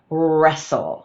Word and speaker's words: wrestle: "Wrestle" spelled with a w r but you only hear the / r/ sounds so the w is silent.